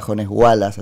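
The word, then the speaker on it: Jones Huala: la pena que purga Jones Wallace, así se pronuncia, allá el embajador de la República Argentina en Chile, que es Rafael Bielsa, tuvo alguna participación.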